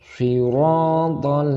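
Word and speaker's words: صراط: Siratal ladzi, mat tabi'i panjang 2 harokat. Kita ulangi lagi. Siratal, panjang juga 2 harokat. Siratal, pakai huruf to, jangan sampai keliru membaca huruf ta, tapi ini to.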